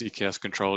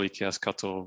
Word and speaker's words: eksctl: And you'll probably notice that I sort of interchangeably use EKS Control, eksctl, but I might even drop in an EKS CTL I am one of those people who hasn't quite decided which pronunciation I'm going to use, so I tend to vary.